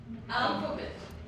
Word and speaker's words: alphabet: Then alphabet. अल्फाबेट इसको क्या करते हैं मिसप्रोनाउंस, गलत स्ट्रेस कहाँ लगाते हैं?